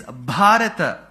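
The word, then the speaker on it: भारत: south of the Vindhyas say Bharata and not Bharat. Why? Why that extra A? Because in Sanskritam, you should never ever complete the last letter by cutting half of its pronunciation.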